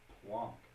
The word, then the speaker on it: Planck: It's Max Planck. It's not plank, it's plonk. P-L-A-N-C-K. Yeah, I know. That's plonk, that's how it's pronounced. It's plonk. Oh, I don't get the rule then. Well, wait, It's a different longa plonk. as an E, longa. Right. Plonk is plonk, not plonka, plonk.